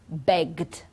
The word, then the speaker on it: begged: examples so grab we've got grabbed okay beg begged okay use used listen listened you see it's